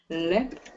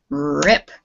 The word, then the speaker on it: Rip: Lip. Rip. Now you got to get that sound at the beginning.